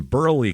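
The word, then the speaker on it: Burleigh: down let's just say that this is in Burley County b r l e i g county yeah Burley didn't expect that did you that's why I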